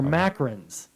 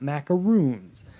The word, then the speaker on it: macarons: you're talking about macaroons no they are pronounced microns or macarons ma c AR o and s microns or macarons not macaroons macaroons are my favorite